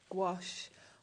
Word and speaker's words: gouache: of a debate actually I always say gash gach gouache I've watched loads of YouTube videos and I've decided gouache is the most common pronunciation but I don't think there is a right or a wrong way to be perfectly honest